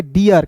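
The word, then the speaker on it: deer: अब देखिए यहां पे डी डबल ई आर को डिर नहीं पढ़ेंगे। इसे पढ़ेंगे डियर। कैसे? डी का ड और डबल ई आर रहेगा तो इसका उच्चारण ईयर के रूप में करेंगे।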